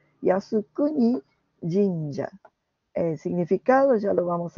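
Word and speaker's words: 靖国神社: El primer carácter se lee Yasu, el segundo Kuni, el tercero Jin y el último Ya. Fíjense también, en esta lectura de estos caracteres chinos, los dos primeros no tienen una sola sílaba, sino dos. En general, cuando es así, está correspondiendo a la lectura en idioma japonés, ¿sí? Por eso tiene dos sílabas.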